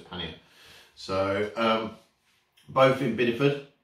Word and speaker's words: Pannier: uh country cottage and paneer um so i'll pannia actually so paneer is something completely different it's spelt pannier so it's pannier so um both in